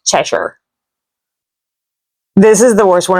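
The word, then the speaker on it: Cheshire: It's not chessire, it's cheshure.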